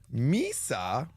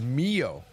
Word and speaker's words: Mio: Misa, which I had been reading it as, is Mio 90% of the time. Misa isn't listed as a common reading. Okay. It's Mio. I've been reading her name wrong.